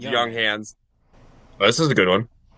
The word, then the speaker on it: Junghans: It's Junghans.